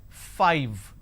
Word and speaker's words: five: is five all right now the pronunciation is five f i v e five so i need to i need to you bite my lower lip to end the word it's five the second